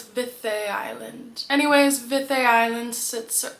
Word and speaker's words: Viðey: It is pronounced Vith Island, not Vidy. The weird little d looking thing is actually like a soft th like mother. So it's Vith Island.